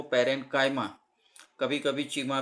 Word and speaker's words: parenchyma: काफ़ी बार ऐसा होता है कि इसका जो प्रोनाउंसिएशन है लोग चीमा चीमा करते हैं, लेकिन जो परफेक्ट प्रोनाउंसिएशन है वो पेरेंकाइमा, कभी कभी चीमा भी सुनने को मिलता है।